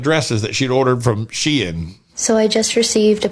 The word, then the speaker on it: Shein: Full disclosure, I thought this business is pronounced Sheen, but it's pronounced Shein. Yeah, Shein.